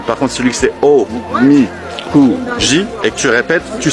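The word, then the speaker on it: おみくじ: Mon ami m'a dit on dit omikuji.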